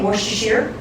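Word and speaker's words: Worcestershire: a little bit of orer Shear sauce which I learned that that is the correct way to say wor theer well at least from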